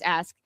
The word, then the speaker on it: ask: And ask, of course, um, being how people say, we'll tell you that's the correct way to pronounce ask. Axe is incorrect, but actually axe was the original way.